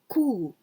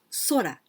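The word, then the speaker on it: 空: is solar sky sky we can also pronounce cool this is the air that we can breathe in like that this is cookie and here we pronounce sora the sky tobu this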